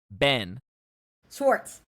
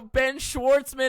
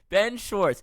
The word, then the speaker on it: Ben Schwarz: Also, Ben Schwarzman is not his name. Ben Schwarz. You said it right. And then you corrected yourself to No, I didn't. I said Ben Schwarz.